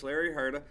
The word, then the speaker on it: Larry Hurta: in Longview Texas Our Guest today is coach Larry Herta am I pronouncing that name correctly it's perfect perfect all